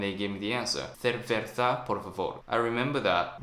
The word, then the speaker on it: cerveza: They told me C and Z is like TH sound in English, like the. So gracias, cerveza.